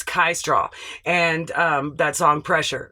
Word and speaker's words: Kai Straw: So sometimes my brain just does that, but I want to make sure I pronounce it right. So it's Kai Straw, and that song Pressure, right?